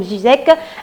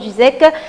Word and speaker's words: Ziyech: Avec 23 matchs, Ziyech a marqué 12 buts présidents. Voilà, Ziyech. Hein, c'est la bonne prononciation, je crois, oui. Mais j'ai entendu les consultants français, entre autres, prononcer Ziyech.